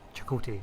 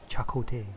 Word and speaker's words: Chakotay: You said his name wrong. What did I say? You went Chakotay. It's Chakotay.